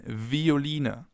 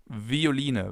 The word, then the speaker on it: Violine: It can either be pronounced like the F as in Veilchen, Veilchen, or like a V as in Violine, Violine, violin.